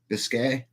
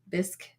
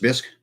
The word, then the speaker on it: bisque: do a carrot bisque Biscay how do you say that bisque just bisque I think so bisque